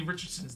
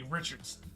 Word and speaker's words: Richardson: And then I pronounced Anthony Richardson's name wrong. And I said, "Anthony Richards."